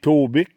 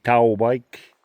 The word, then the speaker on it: Taubik: On peut dire Taubic, là, mais la vraie prononciation, là, c'est Taubike. Taubike.